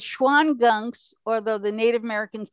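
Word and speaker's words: Shawangunks: that but i wasn't sure how you could pronounce that well yeah it's schwann gunks although the native americans said sean gum that was the real name for them and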